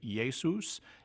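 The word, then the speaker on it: Ἰησοῦς: forms of his name in Greek it became yay Seuss in Latin when it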